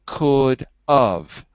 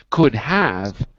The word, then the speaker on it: could have: make this mistake because when we say fast it sounds like of but it's not of it's could have could have I could have gone okay so we're back